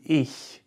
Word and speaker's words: ich: For example, the CH that is used in ich, which is a softer version.